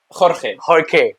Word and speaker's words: Jorge: j okay but I know it's something quite difficult to pronounce for Indian people for people in general so I'm usually saying call me George but your name is hor yeah all right I'm